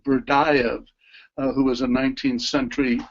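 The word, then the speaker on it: Berdyaev: as an undergraduate reading, I think his name is pronounced Berdayev, who was a 19th century philosopher who was very engaged with the idea of love.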